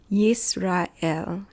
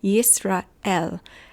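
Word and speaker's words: ישראל: Yisrael is how you would pronounce it in Hebrew. I'm exaggerating it, but Yisrael.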